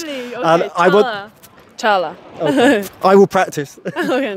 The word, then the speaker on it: Çağla Dönertaş: It's Çağla Dönertaş from Turkey. I'm so glad you said that. Why? I find it very difficult to pronounce non-English names. Really? Okay, Çağla.